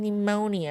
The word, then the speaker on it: pneumonia: Anne pneumonia of silent P and U.